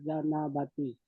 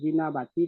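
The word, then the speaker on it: الجنابة: Fayanwi al junubu rofal janabati. Yang benar gimana? Yang benar rofal jinabati tak? Jinabati seperti itu.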